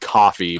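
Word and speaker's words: Ko-fi: treating apparel and well apparently it's just pronounced coffee like I say coke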